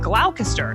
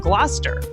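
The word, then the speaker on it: Gloucester: where Shakespeare was writing, I often mispronounced some of the words that you find in the plays. Like originally I said glalcaster instead of gluster.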